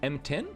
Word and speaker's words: M_T1N: We've got How How is our Zato players name actually pronounced? Let me let me quickly check my cheat sheet if there's a like M10.